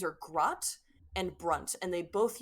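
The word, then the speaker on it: Gratt: um one is uh grat spelled g r a t t it like kind of garat but like one syllable um grat is a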